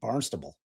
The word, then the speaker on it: Barnstable: Barnstable. Yeah, one word. Uh sounds like barn stumble but without the M.